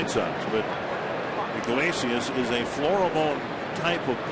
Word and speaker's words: Iglesias: Iglesias.